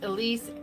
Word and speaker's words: Elise: So, again, this baby Elise Elise, e l i s e, is how you say it.